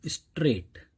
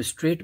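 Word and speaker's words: straight: अब स्ट्रेट में मैं देख रहा हूं कि इसमें जो साइलेंट वर्ड है वो है जी एच, जी एच की साउंड नहीं आ रही, घ की, सीधे स्ट्रेट आ रहा है, राइट।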